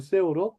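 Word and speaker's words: שאור: 자, 누룩은 히브리어로 세오르라고 그래, 세오르. 헬라어로는요, 발음이 좀 재밌어요.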